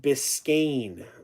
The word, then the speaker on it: Biscayne: Brandon says it's pronounced Biscayne.